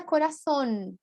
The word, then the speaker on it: coração: Coração tem uma nasalização, uma pronúncia, né, bem nasal, que é coração, do espanhol.